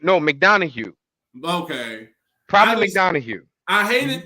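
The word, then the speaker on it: McDonagh: It's JD McDowell. JD McDowell. JD McDowell. That's how I think it's pronounced. It's like JD Madonna or something. It's McDonough. No, McDonough.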